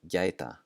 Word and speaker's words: gæta: And gæta, gæta.